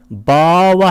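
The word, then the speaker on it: bhāva: 바와 할 때 이것을 길게 발음하면 성이고 만약에 짧게 발음하면 바와 하게 되면 이것은 존재입니다.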